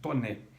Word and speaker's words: Taunay: foi escrito por um autor chamado esconde de toner se escreve Taunay mas é francês Então se pronuncia